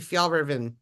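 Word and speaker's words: Fjällräven: If I'm in Sweden, I'm not pronouncing that correctly. It would be Fjallraven or something.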